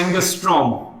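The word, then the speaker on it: ångström: एक पिकोमीटर भी होगी, एक और होती है एंगस्ट्रॉम। थोड़ा इस वर्ड का प्रोनाउंसिएशन झांकना, मैंने स्पेलिंग लिख दी एंगस्ट्रॉम, ए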